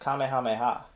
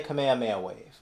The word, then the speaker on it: Kamehameha: guy who mispronounced kamehameha now there are two ways to say it i'll grant you that you could say kamehameha or you could say commandment wave those are the only two ways i've ever heard it said i never heard it